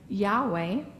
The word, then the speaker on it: Yahweh: yo-dee-hey vah and hey so throughout the generations some have pronounced those four letters Yohei Vahey as yahweh and some have said